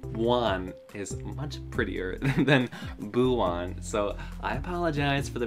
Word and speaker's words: Buwan: you feel uh one pardon me for saying abu on in the beginning but that is how i boo one but one is much prettier than buwan so i apologize for the mispronunciation and i